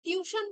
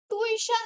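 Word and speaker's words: tuition: তো দেখো টিউশন যে ওয়ার্ডটা, টিউশন বলে যদি প্রোনাউন্স করো, হ্যাঁ, তাহলে কিন্তু ওটা মানে স্পেলিংটা তোমরা বুঝতে পারবে না, কিন্তু টুইশন যদি তোমরা বলো, টুইশন, টুই, হুম, টিউশন যদি বলো তাহলে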